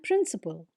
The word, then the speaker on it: principal: Our next pair of words is principle and principle. They are also pronounced exactly the same way, but notice the difference in spelling.